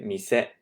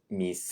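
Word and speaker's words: 店: Okay, mise goes up like that. Some of you might be tempted to pronounce it mise. Mise. Don't do that. Okay, the right pronunciation is mise.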